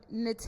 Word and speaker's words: Naté: Um, Nate is spelled N A T E with an accent mark above the E. last name is if you want to Google me. But my Instagram is @p pronounced nate. pronounced n a t- a y.